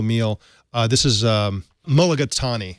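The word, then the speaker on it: mulligatawny: out a single meal uh this is um mulligatani how do you say that katie mologatani you got it yeah okay chicken mulagatani su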